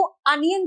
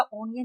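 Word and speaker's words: onion: अ का प्रोनाउंसिएशन देखो, प्याज को अनियन कहते बेटा, ऑनियन नहीं कहते, मंकी कहते हैं, मोंकी नहीं कहते, हाँ डोंकी कहा है, देखो यहाँ डोंकी है लेकिन यहाँ मोंकी नहीं है, यहाँ मंकी है।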